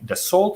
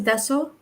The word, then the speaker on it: Dassault: like European enterprises like Dassault Systems. Did I pronounce it correctly, Shiva? In French is Dassault, but Dassault, yeah. Dassault. Not that my French is really good, but it's Dassault.